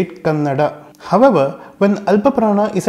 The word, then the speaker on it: Kannada: We all know that it is 'Kannada' and not 'Kannad' despite that we see a lot of North Indians pronouncing it as Kannad instead of Kannada.